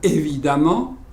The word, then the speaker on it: évidemment: Évident devient évidemment, puissant, puissamment. Prononcez toujours amant.